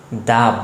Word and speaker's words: the: দা বয়, দা girl. তার মানে কি, ভাওয়েল ছাড়া যদি কনসোনেন্ট দ্বারা কোনো শব্দ শুরু হয় এবং তার আগে যদি THE থাকে তখন এটার উচ্চারণ দা হবে। For example, দ্য বয়, দ্য girl, দ্য কার।